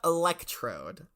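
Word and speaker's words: Electrode: and you 100% should um I believe it's pronounced elect Road uh yeah electry Electra orb okay no we're learning about electrod um the evolved form of oh well Corbin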